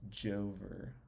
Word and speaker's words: Jover: they were saying it's Jover, like this it's like spelled like over but Joe, and they had like Biden looking down on it.